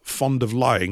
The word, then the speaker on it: von der Leyen: The West is burning, while the Starmers, the Scholzes, the Macrons, the von der Leyens, that's arseholer, fond of lying, that's how you pronounce her name, and even the Pope all fiddle, which they do."